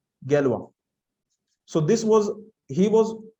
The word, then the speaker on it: Galois: Gallery okay so in this is the pronunciation in Hindi galwa so this was he